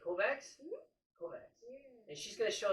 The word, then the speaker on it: Kovacs: Kovacs.